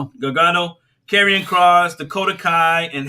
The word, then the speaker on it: Gargano: was johnny gargant gargano jose pronounced his last name gargano gagano carrion cross dakota kai